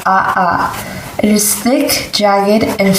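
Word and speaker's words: ʻaʻā: their names from Hawaiian words i lava is pronounced aha it is thick jagged and fast-moving it Carrie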